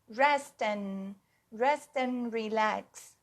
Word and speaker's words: rest and relax: Se eu falo rest and relax na gíria, rest and, tá vendo que eu não pronuncio o D? Rest and relax, rest and relax.